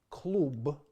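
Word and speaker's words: клуб: So, for example, we will compare these words, klub, which ends in a hard b, versus golub, which ends in a soft b.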